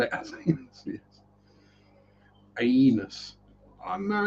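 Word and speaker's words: aeneus: Um, yeah, the ones in there are just your bog standard Aenus. And yes, I do pronounce the E in that. The albino Aenus.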